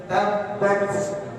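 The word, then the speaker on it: تبت: Tabbat, tabbat, tabbat, tabbat. Jadi tidak hanya tabbat, bukan itu. Tabbat yada, jadi ada hamzahnya tapi sedikit.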